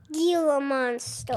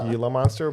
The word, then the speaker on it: Gila monster: Gila monster. Gila monster because it's got a G at the beginning, but it's pronounced Gila monster.